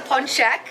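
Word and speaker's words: pączek: what you're doing um one is a punchek and but several is punchki and I would say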